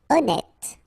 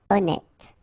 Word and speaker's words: honnête: Honnête. So remember, H doesn't exist. Honnête.